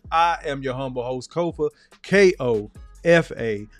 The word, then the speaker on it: Kofa: I am your humble host, Kofa, K-O-F-A, not coffee, not Khufu, not Kofi, or any variation thereof. Kofa rhymes with sofa.